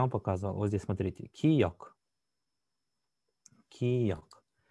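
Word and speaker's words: 기역: Киёк. Киёк. Если посмотреть на произношение, здесь мы видим два звука. Г и К.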